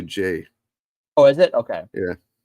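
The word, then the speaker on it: Ghey: So last week in the UK, the Brianna Gay case came back. I might be pronouncing her last name. From what I understand, it's actually Jay.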